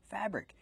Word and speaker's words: fabric: Fabric. Use the short A sound like black cat for the first syllable, fabric.